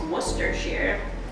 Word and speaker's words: Worcestershire: teaspoon of worcestershire sauce i know there's like a big debate it was like how to say it or chester shire but i'm from massachusetts so that's wrong it's worcestershire or otherwise known as what's this here sauce i don't know